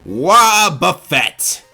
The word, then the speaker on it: Wobbuffet: Say it with me, ladies and gentlemen, Wobbuffet! That is how they say it in the show, isn't it?